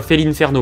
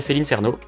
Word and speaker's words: Félinferno: Mais la prononciation officielle, c'est bel et bien Félinferno, malheureusement. Et du coup, dans Smash Bros, quand tu sélectionnes Félinferno, ben, le commentateur, il dit Félinferno.